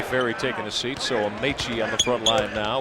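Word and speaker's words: Amaechi: Wants to go with Amichi the rest of the way.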